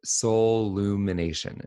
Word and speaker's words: soullumination: There's only one L, like soul. So it's SOUL, and then it's UMINATION, like soul lumination.